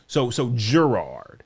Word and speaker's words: Gerard: Gerard. Yes, correct. I wanted to say but you said soft G. So Gerard.